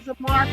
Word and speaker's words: Zamar: Am I pronouncing ZAMAR correctly?